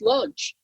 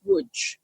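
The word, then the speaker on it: Łódź: came from lunch and I always thought it was pronounced lunch and it wasn't until I met somebody from there who said you know it's wood no I have no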